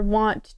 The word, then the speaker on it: wont: It's pronounced like want. Oh, so it's supposed to be like want. There was, however, as minstrels are wont to do.